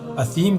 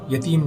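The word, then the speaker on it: الأثيم: الزقوم طعام الاثیم، تو ایرانی صحابی کی زبان سے اثیم کے بجائے یتیم نکلتا تھا۔ بہت کوشش کی لیکن ان سے صحیح تلفظ ادا نہ ہو سکا۔ بلاآخر ان کو ساتھ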